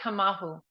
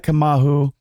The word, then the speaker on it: Kamauu: Kahea Kamal. Yeah, Kahea Kamal.